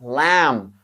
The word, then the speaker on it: lamb: You don't pronounce that B. You say comb, lamb.